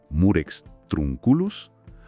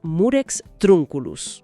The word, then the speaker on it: Murex trunculus: La pronunciación clásica correcta es Murex Trunculus. Murex trunculus. Exacto. La acentuación recae en la primera silaba de la segunda palabra, formando una esdrújula.